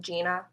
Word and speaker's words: Jeanna: said my name yet it looks weird but it's pronounced like gina so hi i'm gina